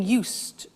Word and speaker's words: used: listen to the pronunciation I said us with a t sound us not used or used us that's very important to distinguish it from the other verb use okay used the next